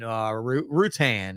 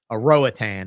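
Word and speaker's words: Roatán: Honduran, Honduran and Utillan and Rutan and Roatan, as whites would call it, right? I mean, we all say Roatan because we want to pronounce the Roa, but they say Rutan on Rutan.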